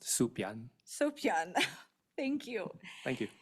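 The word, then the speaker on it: Soepyan: Dr William Hopper Gregory right Stone and Byron soan did I say that right it's actually pronounced suion suan thank you thank you and our own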